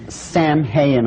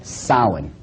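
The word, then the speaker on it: Samhain: call it sowing now when you look at the name it looks as if it's saying Sam hayen or something like that no no no this is properly pronounced in the ancient Gaelic as Salin Salin according to occult tradition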